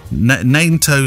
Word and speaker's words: Nanto: For Nanto, just think of NATO, but with an extra N. Nanto Sealants.